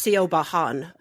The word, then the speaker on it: Siobhan: We could talk a little bit of how Siobhan is not spelled how you think it's spelled in Irish. Yes, it's Siobhan.